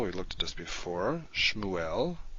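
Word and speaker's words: שְׁמוּאֵל: Shmuel. Shmuel. Samuel. Now we know this is vocal because it's at the beginning of a word, so therefore it's at the beginning of a syllable.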